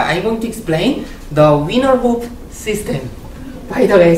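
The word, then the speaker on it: Wiener: and then oh you know his winner not Weiner and then I said oh I'm so sorry about that and then there are two things so I mean like the winner is the correct pronunciation and then the professor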